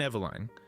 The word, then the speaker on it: Eveline: Eveline Eveline, pronounced E-V-U-L-I-N-E, is not born into a family.